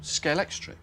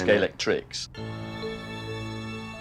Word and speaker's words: Scalextric: And Scalex plus electric became Scalextric. And that's why nobody can pronounce it properly. Well, they all do it the wrong way around, yes. Everyone says Scalextrics.